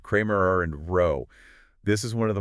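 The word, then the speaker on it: Cramér–Rao: And for everyone listening that's pronounced Kramer and row.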